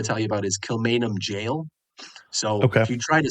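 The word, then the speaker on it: Kilmainham Gaol: tell you about is Kilmainham Jail. So if you try to spell that, you'll have some difficulty, but just type in Dublin and then type in Gaol, and that'll get you Kilmainham Jail.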